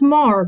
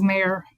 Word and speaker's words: Maher: And her name is Miss Maher. Did I get the last name right, Maher? It's Maher, but everyone says Maher, so it's fine.